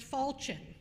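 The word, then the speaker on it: falchion: meaning of which nor the pronunciation Fortune it's pronounced falchen and it's a broad slightly curved sword with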